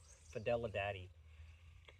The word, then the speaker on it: Fidelidade: It's spelt exactly like it sounds, but instead of daddy, it's DADE. Fidelidade.